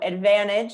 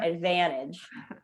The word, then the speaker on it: advantage: say it at all it just becomes silent because it comes after an n and then that and it's a very uh like the as in apple or in cat and van advantage yeah but in british accent they say advan advantage advantage it's r sound here it's not ah like in the american accent what about the word